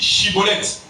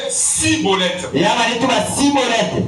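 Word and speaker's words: schibboleth: lui disait alors et bien dit chibolette alléluia et il disait cibolette car il ne pouvait pas bien prononcer sur quoi les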